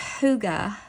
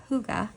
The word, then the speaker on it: Hygge: It's pronounced Hygge. Hygge.